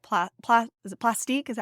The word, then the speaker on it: Plastiq: pla PL is it plastique is that how they pronounce it either way it's p l a s t IQ I believe so sounds French so it should be plastic yeah so that is